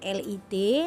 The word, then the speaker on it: lit: Contohnya adalah yang pertama, kata li ditulis dengan LIT tetapi huruf T-nya tidak disebutkan, maka pengucapannya menjadi li.